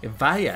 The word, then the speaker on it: Evija: Evija, I learned that that's how you're supposed to pronounce that.